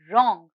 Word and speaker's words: wrong: the silent letter here the silent letter is w and the word is wrong here the silent letter